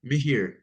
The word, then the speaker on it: Mihir: Doing well, and your name is pronounced how? Mihir.